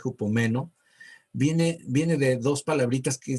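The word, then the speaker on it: ὑπομένω: Esta palabra perseverar, que en griego se lee hupomeno, con acento en la E, hupomeno, viene de dos palabritas que también significan quedarse bajo o quedarse detrás.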